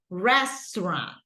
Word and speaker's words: restaurant: a tricky one but remember that is basically not restant we don't say three syllables but we try to say two restaurant restaurant okay let's try okay go